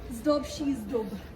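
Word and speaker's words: Zdob și Zdub: How do you say it again, Rosie? Zdob Shizdub.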